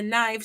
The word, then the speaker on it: knife: Knife is a knife. So knife has a silent K in it, but gnat has a silent G in it.